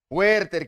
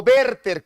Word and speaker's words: Werther: Es Werther, o Werther, como debería ser en su pronunciación.